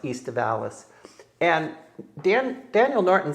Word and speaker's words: aestivalis: It is most likely, it's classified as a native species, Vitis aestivalis or estivalis. It's the Latin term would be pronounced aestivalis.